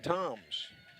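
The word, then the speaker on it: Thoms: up Camden Toms boy there was a Tom's that grew up in Lamar County some years ago Rusty Toms that went on to play it at Mississippi State pretty good baseball player spelled the same way the last name Toms t-h-o-m first pitch to him is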